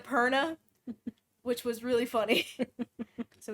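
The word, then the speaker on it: Purna: All free, all great, except a robot was reading it, so they pronounced her name as Puma. Instead of Perna.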